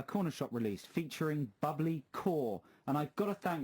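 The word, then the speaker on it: Kaur: the pronunciation of bubbly quoi i believe i pronounced it phonetically it's actually pronounced core he's texted again this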